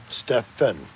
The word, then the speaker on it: Stefan: Okay, he's saying it's pronounced Stefin. Stefan. Okay. Hey, if you want to be a Finn and not a fan, that's fine, Stefan.